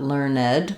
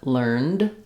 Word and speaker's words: learned: So it doesn't add a syllable, not learned, but learned, learned. Same thing happens with turned or earned. We don't get a syllable there from that vowel, so the E is silent.